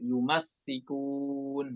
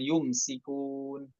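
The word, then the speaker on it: يمسكون: Di sini dibacanya yumassikun, hati-hati ya. Mimnya fathah, kemudian sinnya tasydid, yumassikun, bukan yumsikun.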